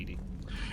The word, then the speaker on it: EDI: are you named Edie? EDI is the phonetic pronunciation of EDI.